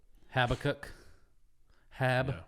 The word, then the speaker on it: Habakkuk: conversation on habac yep habac Hab we're going with that Nazarene pronunciation habach habach yeah that's how we said it growing up so uh so we